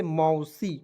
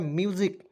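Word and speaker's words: music: लोग जो है दोस्तों बचपन में हम लोग क्या पढ़ते थे इसे मौसी बिल्कुल गलत है इस तरह नहीं पढ़ना है म्यूजिक क्या पढ़ना है दोस्तों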